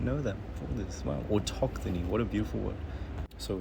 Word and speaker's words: autochthony: Let's see how we pronounce it. Autochthony. Autochthony. Sorry if it was a bit loud. It's Autochthony.